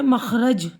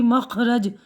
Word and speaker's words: مخرج: ساتھ۔ تو یہ ہے مخرج، بڑی خے، دیکھیے خے کی آواز آئے گی، مخرج۔ قادر، موصوف، میوخ، مختصر، فروخت، پبلشر، فروکش.